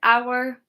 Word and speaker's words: hour: We pronounce it our, but if we take off the H and it's a different word, our.